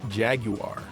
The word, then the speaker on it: Jaguar: this the Amiga proper the PC or the jaguar or as the British say jaguar here's Simon the Sorcerer this one features a